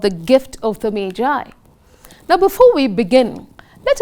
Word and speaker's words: Magi: the gift of the mai remember children it's pronounced as Mai not Maggie this story was written